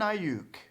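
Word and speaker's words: Aiyuk: Oh yuck I you the K is silent I hate are you Brandon I uke good call yeah Arizona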